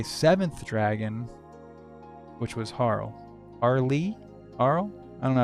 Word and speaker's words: Harle: far as Harl goes, I agree with the one um commenter who kind of lit me up about um the pronunciation of her name. I guess it should be Harley.